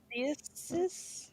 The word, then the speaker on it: Prosteus: Prosteus, like a replacement on, but Eus instead of Esus.